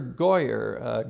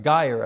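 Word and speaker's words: Guyger: the sight of all amber goyer geyer i believe is how you pronounce her name that's her in the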